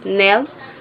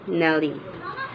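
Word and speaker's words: Nelle: Next is, Lee's full name was actually Nell Harper Lee. Her first name was the backward spelling of Ellen, her grandmother's name, and was pronounced as Nell rather than Nellie.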